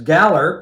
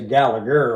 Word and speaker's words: Gallagher: My next choice goes to Rory Gallagher, and I've seen it pronounced as Galler, but we always say Gallagher over here.